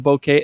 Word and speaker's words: bokeh: Yeah, I say bokeh. I mean, it's technically a Japanese term.